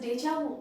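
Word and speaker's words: déjà vu: is deja vu okay the pronunciation is they will say this is deja vu which means we have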